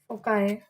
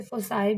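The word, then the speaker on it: foci: ठीक, अब हम फाइंड आउट करेंगे फोकाई। अच्छा, बास जो है टीचर्स इसे फोसाई भी प्रोनाउंस करते हैं।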